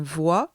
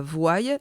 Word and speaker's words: voit: un s voix attention on prononce bien voix et non pas voyais ce qui est absolument incorrect que doit-on retenir de